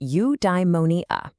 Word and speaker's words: eudaimonia: Okay, I've got a new word for you, eudaimonia. It's pronounced you-die-mo-nee-ah.